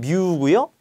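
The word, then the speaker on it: μ: 우리 설명하면 오하루 종일 걸리니까 기호 위주로 보는데 얘는라고 읽습니다 얘는 뮤고 점도에가 밀도를 나눈 동 점도는 누라 읽는다 자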